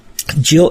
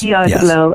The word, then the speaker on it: Gill: Gill, if people are just discovering you and your work, where might they find you online to get plugged into all you do?